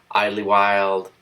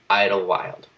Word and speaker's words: Idyllwild: was laughing at me I called Italy would highly wild but it's just I don't what I don't see that there goes it's just Idlewild personally I think the